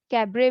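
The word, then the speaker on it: cabaret: कैबरे basically एक कैबरे में T silent है, कैबरे डांस सुना होगा आपने, हाँ तो बस ये वही है, एक तरीके का ये डांस फॉर्म है कैबरे।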